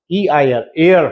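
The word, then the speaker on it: heir: এটা মনে রাখবে, প্রোনাউন্সিয়েশন হচ্ছে এয়ার, এইচ এর প্রোনাউন্সিয়েশনটা কিন্তু হয় না, এয়ার হয়, ঠিক আছে?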